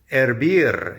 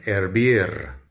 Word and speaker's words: hervir: Hervir is to boil. As usual, the H is silent. Hervir, to boil.